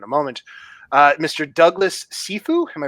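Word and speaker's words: Cifu: Douglas Sefue. Am I pronouncing that right? Sefue.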